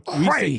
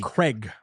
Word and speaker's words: Craig: he right he's right Americans say it wrong I'm in movies with Daniel Craig Craig but it's not Craig it's Craig Craig we will link to